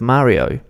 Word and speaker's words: Mario: Mario doesn't read Mario, it reads Ma-ri-o. Mario, Mario, Mario. You basically pronounce each letter individually, and that sound doesn't get altered, and it stays the same no matter what word or what context.